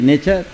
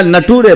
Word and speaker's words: nature: की स्पेलिंग सिखा रहे, नेचर बोलने के लिए बोल रहे हैं, NATURE नेचर, तो बोल रहे नेचर की जगह नटूरे बोलता है।